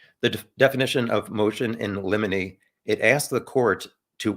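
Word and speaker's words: limine: to make sure and somebody pronounced it lemony a helpful tip is like there's a the Disney movie Pinocchio has a character Jiminy Cricket so Jiminy lemony and speaking of Pinocchio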